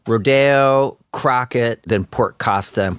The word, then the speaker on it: Rodeo: Okay, let's start in the suburb Rodeo. Is that where you grew up? Yeah. And we're pronouncing it Rodeo, right? It's not rodeo.